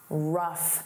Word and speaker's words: rough: Let's review rough. Rough. Notice that f sound, rough.